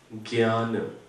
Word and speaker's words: ज्ञ: की जरूरत नहीं थी इसका वास्तविक उच्चारण जो है वह कैसे बनता है आधा ज च छ ज यहां पर भी ऐसे वर्णमाला चलती है ठीक है तो आधा ज और इसमें क्या है आधा य च छ ज ज